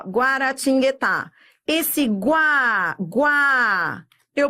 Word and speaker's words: Guaratinguetá: ele faz um som esse U faz som se ele não fizesse som aí seria um dígrafo Então você vai ver